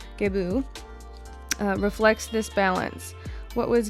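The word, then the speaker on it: Gebo: Gibo, pronounced Gebu. Okay, sorry, I'm saying it wrong. Gebu.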